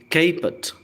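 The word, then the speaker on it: caput: कैपट, pronunciation पर ध्यान दें, दिस इज कैपट।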